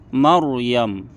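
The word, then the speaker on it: مَرْيَم: maka cara membacanya tebal contohnya Maryam khardal rnya tebal Mar khar tebal itu contoh saat fathah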